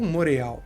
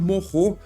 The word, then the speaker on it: Moreau: O original, assim, o jeito mais correto de se falar é de fato Morro, porque ele vem do